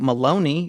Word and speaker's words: Maloney: This is from Andrew Maloney. It rhymes with baloney.